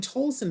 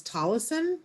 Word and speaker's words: Tolleson: I've been saying Tolson, but it's Tollison.